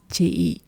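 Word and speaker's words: chị: will use the word "chi". "Chi". It's like tea, but a very sharp crop at the end.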